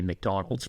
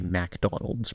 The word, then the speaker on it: McDonald's: MAA person I think cuz a real a real Trump head would say McDonald's because they know how to pronounce it correctly because it's their favorite person's favorite food but the Boomers want to say MacDonald's because it feels right yeah so who's saying